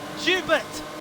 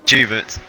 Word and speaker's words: Jubert: For the final time, you don't pronounce it with a French accent! It's Jubert! Jubert. There we go! Everyone says it French, it's not French!